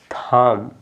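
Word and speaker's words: thumb: गया बी क्या हो गया बी आपका जब साइलेंट हो गया तो आप इसको क्या पढ़ेंगे क्या पढ़ेंगे बताइए थम क्या है थम इसको थम नहीं पढ़ा जाएगा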